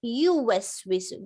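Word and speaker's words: يوسوس: and then you say yuwaswisu. Don't say alladhi yuwaswisu. No, alladhi yuwaswisu. This is called madud tamkeen. Yamad followed by a ya dhamma. But prolong the ya and then pronounce the dhamma on ya.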